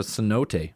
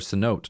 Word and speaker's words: cenote: And it was also built on top of a cenote, or a cenote, depending on who you talk to. That's how you pronounced them.